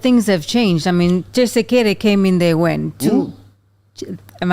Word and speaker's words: Tshisekedi: Felix Tshisekedi? Not Tshisekedi. What is it? Tshisekedi. Yeah, it's the same thing. Tshisekedi. No, you're still saying it right. It's the accent, you understand.